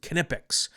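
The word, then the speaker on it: Knipex: They they pronounce it Kipics.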